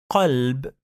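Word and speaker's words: قلب: Qalb, and another word kalb. Qalb, it means heart. Kalb, it means dog. So pay attention when you pronounce the letter, because you could change the meaning of the word.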